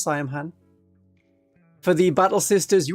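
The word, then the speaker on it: Saim-Hann: Yeah, I think it's Siam Han. It's pronounced Siam Han.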